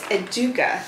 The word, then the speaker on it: Educa: the 500 piece from aduka which i've heard it pronounced a bunch of different ways but the way that they're pronouncing it from those who are in europe um is educa so this one here